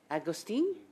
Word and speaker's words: Agostini: So I am going to start with Madame Agostini. Did I pronounce that properly? You did.